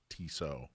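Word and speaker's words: Tissot: tiso T so so it's t-i-s-s-o-t but it's pronounced tiso okay we ought to do a watch show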